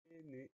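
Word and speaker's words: peiner: Le mot péné, première syllabe P, P-E-I. Donc le premier son E de péné s'écrit E-I. C'est assez rare, donc on pense bien à mettre E-I pour le son E. Deuxième syllabe né, N-E-R. Le dernier son E de péné s'écrit E-R parce que ce mot-là est un verbe.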